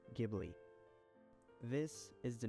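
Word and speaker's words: Ghibli: of this relentless wind, which in Arabic is pronounced Gibli.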